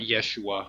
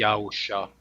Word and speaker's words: Yahusha: I call it Yahusha, not Yeshua, because that's Joshua, and Joshua comes from Israel and Jesus. It's Yahusha, Yahusha. That's how you pronounce it.